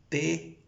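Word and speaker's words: πτωχός: darle una buena pronunciación, que se dice es tosos. Claro, se escribe con una P al principio, T-O-X-O-S. Toxos, así.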